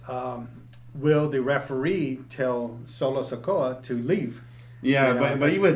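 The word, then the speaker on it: Solo Sikoa: going how do you say it solo Oh solo sakoa okay so then who's gonna monitor him you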